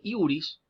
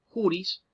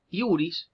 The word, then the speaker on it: iuris: Recordemos que jurídico viene del latín iuris, juris, iuris, que la J se pronuncia como una I en latín, iuris, de ahí viene lo